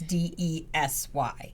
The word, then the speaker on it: Desy: It's DESY. Yes, it's kind of tricky to pronounce and spell.